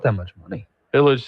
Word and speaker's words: Illg: The bill by Harahan Representative John Illich, I believe is how you say his name, ILLG.